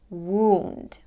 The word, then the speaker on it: wound: from that position we release the D sound wound don't make the sound short one won't make